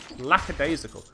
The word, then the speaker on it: lackadaisical: limp like a daisy people often mispronounced as laxatives but there's no X we're in a mess lackadaisical don't know what a